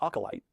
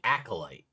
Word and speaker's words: acolyte: Oh, I know he's saying acolyte, but I've never heard it referred to as acolyte. I've always heard it pronounced acolyte, so that's just throwing me. So, like, acolyte sounds like it's OCOLYTE. Acolyte, not acolyte.